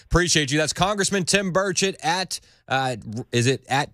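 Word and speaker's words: Burchett: c h TT and thanks for saying my name right God Dam it these people have been up here six years and you can't it's Birches I me listen listen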